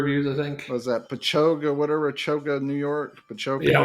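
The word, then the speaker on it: Patchogue: Was that Pachoga, whatever, Choga, New York? Pachoga, Yeah, we used whatever. to pronounce it Patchagoo, but someone corrected us in Pachoga, the yeah.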